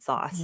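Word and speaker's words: SaaS: uh organic to say SAS I would have said sauce but what can you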